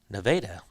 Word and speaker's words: Nevada: state kind of, but that's not what they say. You know what that is? Nevada, but it's spelled Nevada.